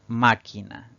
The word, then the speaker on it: máquina: debemos colocarle tilde siempre tenemos la palabra máquina es una palabra que tiene tres sílabas al pronunciarla la mayor fuerza de voz recae en la antepenúltima sílaba contando derecha izquierda es una palabra esdrújula